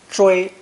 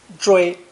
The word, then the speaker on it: 追: It's pronounced first tone, 追, 追, and originally meant to chase after the enemy.